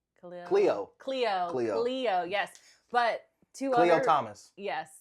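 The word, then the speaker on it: Khleo: Theo. No, it's like a K. Cleo.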